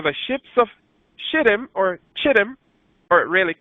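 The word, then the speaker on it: Kittim: the latter for the ships of him or chittim or really kid him the ships of kid him the CH pronounces cave a ship of kid him shall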